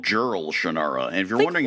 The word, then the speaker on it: Jerle: Yeah, Jared is spelled, if it is pronounced that way, I don't want to know, Jerle. Yeah. Like if it were like Yerli. Yeah, it'd be more interesting.